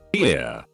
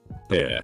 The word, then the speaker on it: Pierre: south dakota pierre wrong she kept saying here two syllables like the french name and he said it was here one syllable like what you fish off of